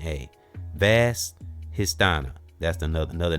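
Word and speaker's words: Svadhisthana: Vad histana. It's like the s is silent.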